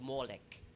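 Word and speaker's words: Molech: The cananites were known in sacrificing their babies on the burning altar of a god called molek. Molek ang pronunciation diyan.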